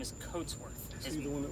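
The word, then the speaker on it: Cotesworth: differently phonetically the same so coat like we wear a coat but his name is coatsworth is he the one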